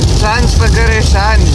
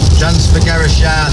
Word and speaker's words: Transfăgărășan: So yeah, we're 170 kilometres away from the start of the Transfagarasan road. Transfăgărășan. Transfagarasan, as I'm being told.